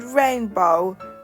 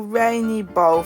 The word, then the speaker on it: rainbow: The word rainbow is commonly mispronounced into rainy bow for some reason.